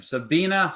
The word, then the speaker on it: Sabina: Okay, see, way to start the stream horribly by mispronouncing her name. Sabina Hassenfelder.